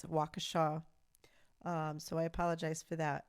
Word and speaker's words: Waukesha: the name so in the live stream i pronounced it wakesha and it's waukesha so i apologize for that and also i